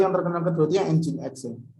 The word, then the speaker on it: Nginx: Terus ada lagi yang terkenal kedua itu yang Nginx ya. Bacanya bukan Nginx ya, Nginx.